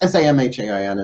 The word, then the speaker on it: Samhain: the on Halloween right so this is for salen look it up s o w e and s o s o w en is how it sounds sound but it's pronounced sa mhan as you can see in the title welcome